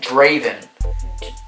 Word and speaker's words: Draven: Draven's different. How do you say his name again? Draven.